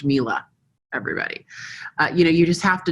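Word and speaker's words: Miele: It's pronounced Mila, everybody.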